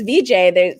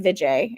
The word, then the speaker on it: Vijay: I just was like, I can't mispronounce my own name anymore. That was the turning point for me. Was I can't say my name is VJ anymore. And then all these people who had known me as VJ, suddenly I was like, I'm Vijay.